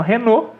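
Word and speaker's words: Renault: casos a gente traduz um nome traduz a pronúncia do nome e às vezes não é pegar um caso por exemplo renô em francesa marca francesa é exatamente 100 renô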